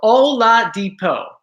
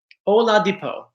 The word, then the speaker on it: Oladipo: So thank you for phonetically writing it out for me. So Oladipo. Oladipo.